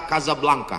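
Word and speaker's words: Casablanca: Hasan dua di Kota Kasablanka Hai ibukota Maroko tempat saya kuliah nama negaranya Maroko ibukotanya tulisannya casablangca cara bacanya Kadzab langka Kaza artinya rumah Blanca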